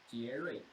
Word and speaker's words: 杰瑞: 杰瑞 It is Jerry, like Jerry.